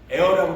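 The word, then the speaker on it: heir: 또 하나의 진리가 무엇이냐면 에어라고 그러나요? 영어로 H가 묵음이 되어갖고 에어.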